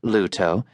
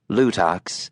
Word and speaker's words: Luto: Though it was correctly pronounced Luto, not Lutox, as the co-driver kept calling it, John was keeping his mouth shut.